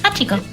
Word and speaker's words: Hachiko: I think that's how you pronounce it, Hachiko, right? Yeah, so Okay. Yeah, Hachiko. It rhymes with pachinko.